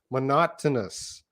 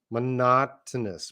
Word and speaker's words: monotonous: It's so hard to pronounce this word monotonous. I know, eh? It's hard for me. Monotonous. Monotonous. Monotonous. I think every O has a different sound.